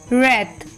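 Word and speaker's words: wreath: E right W आर ई ए टी एच रेथ डब्लू आर ओ एन जी रंग डब्लू आर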